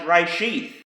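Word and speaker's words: רֵאשִׁית: found in this first word of Hebrew is pronounced reshith, and it means first fruits. And the Messiah Yeshua referred to himself as the first fruits of the resurrection of the dead, the reshith.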